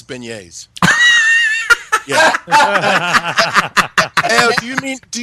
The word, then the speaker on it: beignet: ask um when Daniel's on ask him to pronounce beignet yeah do you mean do you mean beg Nets no oh Daniel's gonna be furious oh he's